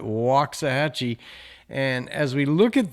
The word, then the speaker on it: Waxahachie: We call it Waxahhatchee.